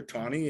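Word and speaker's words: Taney: of the Supreme Court named Roger Tony it doesn't look like it's pronounced that way but it is he's the one who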